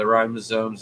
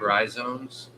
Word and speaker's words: rhizomes: though don't bury the ribosomes and they'll be all right they do a little bit better and high temperatures if you mispronounce rhizomes one more time rhizomes that was your allergies